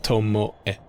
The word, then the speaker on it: Tomoe: Same with tomoe, it's tomoe. That's kind of like an A sound, so I tend to just do A.